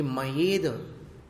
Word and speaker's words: मयेद: ये मयेद, इसमें य का उच्चारण कुछ लोग ठीक से नहीं करते हैं, मयेद ऐसा बोल जाते हैं। तो मयेद में क्या हो गया? ए आ गया, य चला गया, तो य का उच्चारण संभाल कर करना।